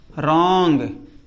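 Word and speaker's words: wrong: रॉन्ग। क्या पढ़ा? रॉन्ग पढ़ा। डब्ल्यू आर आई एन के एल ई रिंकल। देख रहे हो ना? ये डब्ल्यू के बाद में आर आ जाए तो डब्ल्यू हमेशा साइलेंट रहेगा।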